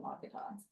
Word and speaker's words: Mat-Su: That's over there uh Mat-Su or whatever, however you There's two ways of pronouncing it, but I call it Mat-Su.